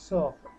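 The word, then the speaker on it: sœur: sisters you R they B এস ইয়েস তো উচ্চারণ এর মতো তাহলে দে তু আ দে সফ এস ও ই এটা কিন্তু ও আর ইটা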